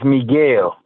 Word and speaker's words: Miguel: please yes ma'am okay is it meg lee my name yes your first name pronounce it for me oh my first name is miguel miguel okay it is miguel all right now carly